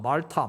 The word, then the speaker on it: 몰타: 몰타 몰타 슴 입니다 뭐 저 영어 저 영국식 발음을 한번 말타 말투 한번 그렇게 말을 말을 타는 질문 좀 말도 말과 몰고 중간에 정도로 정확히 그냥 그 정도 발음 이라 생각하시면 됩니다 뭘 탐험 월터 뭐